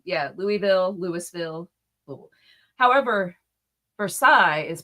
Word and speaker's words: Versailles: However, Versailles is pronounced for sales.